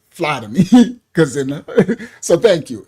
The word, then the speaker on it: Ptolemy: It's pronounced Ptolemy. Oh, Ptolemy.